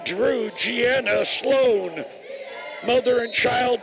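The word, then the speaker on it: Jrue: yeah so you know Drew holiday of the Boston Celtics Jr u e is a spelling pronounced Drew little Gianna's name for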